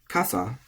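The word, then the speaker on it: 傘: Kasa is tamadaka, high-low.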